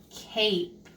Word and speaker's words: cape: turn that into eight Cape very good that silent e makes the a say a let's do one more